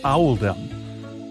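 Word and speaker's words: Oldham: This choice was made to reflect the pronunciation of in the local accent, which is Owaldum.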